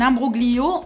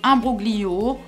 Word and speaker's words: imbroglio: Un imbroglio, en italien, ça signifie situation embrouillée. D'ailleurs, tu peux le prononcer imbroglio ou imbroglio.